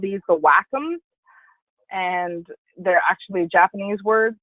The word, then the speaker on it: Wacom: other things you'll hear Nyna called these the Wacom and they're actually Japanese words that's why I say walk them because that's the correct pronunciation but you can call it whatever you